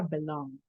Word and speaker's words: belonged: Belong, este es el sonido de la G y la N que queda acá. Entonces pasaría a belonged. Es como un golpecito el que voy a hacer yo con la D nada más, ¿va?